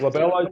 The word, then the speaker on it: glabella: So just like glabella here. Glabella is always on my test because it rhymes with my daughter's Isabella's name.